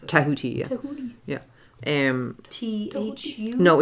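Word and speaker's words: Djehuty: Oh, Tahuti is how the Egyptians pronounce it. Tahuti, yeah.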